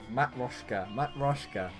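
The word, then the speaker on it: матрёшка: So have you heard of the so yeah, Matryoshka.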